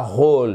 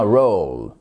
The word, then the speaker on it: role: Et pas role mais bien roll.